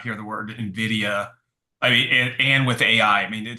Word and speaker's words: Nvidia: you guys at least they say it right for most my career it's been Nidia they they had no idea how to say it so it took me